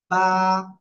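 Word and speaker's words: ب: নিয়া সবাই মুখস্ত করেন দুই ঠোঁটের ভিজা অংশ থেকে বা অক্ষরটি উচ্চারিত হবে এক আলিফ টানিয়া সবাই জোরে জোরে বারবার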